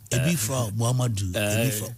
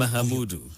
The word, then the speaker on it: Mahamudu: Muhammadu. What's the correct pronunciation? Mahamudu. Mahamudu.